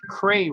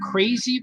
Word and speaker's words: Cray: drawing the Crybaby Adventures, everyone always would get the name wrong because it says Cray right on the cover, C-R-A-Y. But people would still say, oh, crazy babies? Oh, cry babies? I'm like, no, you're wrong on both things.